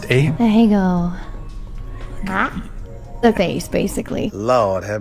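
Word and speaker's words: Ahegao: What is how's it pronounced? Ahego.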